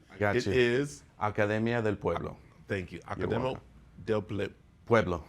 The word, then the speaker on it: Academia del Pueblo: And let's say the school because I've been trying to pronounce it. I got you. It is Academia del Pueblo.